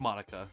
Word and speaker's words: Monika: monica monica monica monica i was trying to say in the japanese way i don't know monika it's a normal name no no you you say it like monica yeah uh okay this